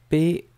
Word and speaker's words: peint: P-E-I-N-T. Et là, vous retrouvez la connexion avec tous les substantifs, les mots comme peinture, peintre, etc., etc. Donc c'est P-E-I-N-T et phonétiquement on prononce peint avec le verbe avoir.